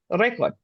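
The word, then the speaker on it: récord: Record. Yeah. I just say it with a Yes. Spanish accent. Yeah. Aha, even you Uh, said roll your R, record.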